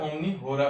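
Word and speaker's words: omni hora: Pronunciation थोड़ी सी मेरी थोड़ी अलग हो सकती है, तो आप अपने हिसाब से प्रोनाउंस कर सकते हैं। मतलब जो जनरली बोला जाता है ओमनी होरा, मतलब बोला जाता है एवरी ऑर के, मतलब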